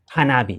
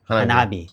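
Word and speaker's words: 花火: I forget now in Japanese, but you might incorporate fireworks into your hanabi. Yeah, hanabi.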